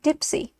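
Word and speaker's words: deep-sea lead: 30 fathoms in length the Deep Sea lead pronounced Dipsy weighs from 14 to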